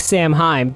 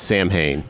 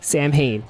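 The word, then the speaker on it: Samhain: I mean, it looks like Sam Heheim, but my understanding it's pronounced like not like that. So, I don't even want to try. It's Sam Hayne. Sam Hayne.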